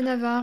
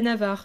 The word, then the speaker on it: Navarre: Moi je dis les Navarrais, Navarrais. c'est Nava- très bien, C'est hein. c'est vrai que Navarre, Oui, ça fait... français de Navarre, quoi.